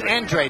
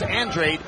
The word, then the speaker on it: Andrade: of his name is andrade i don't know nope uh actually it's andre the family prefers android even though it looks like andrade and if if they were portuguese it would be andrade but they are not